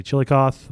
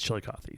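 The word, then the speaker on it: Chillicothe: grade of 5.8% and we will arrive in chili coffee I've I've heard that's how you pronounce it some say chili cth but I've told by the locals it's chili Cy so okay if I'm wrong I apologize no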